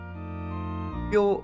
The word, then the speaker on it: 뼈: 그리고 혹시나 또 궁금하실까봐 뼈 신부와 함께하는이라고 되는데 뼈 신부는 당연히 접니다. 뼈는 제사례명 비오를 빨리 발음하면 뼈라고 할 수 있어요.